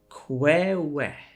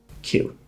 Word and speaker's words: queue: And if you try to sound every single one out, you might say something like Kwewe. But here's the thing. It's pronounced exactly like the letter Q. Just Q.